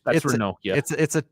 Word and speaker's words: Ranocchia: So right now it's Ravella, Cambiaso, Ranocchia, De Winter, and Ake. And Juventino MC. That's the Rano name there. That for Ranocchia. It's Ranocchia.